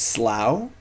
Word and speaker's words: Slough: if he needs him google says the rhymes with cow so it's Slough hey maybe I'm wrong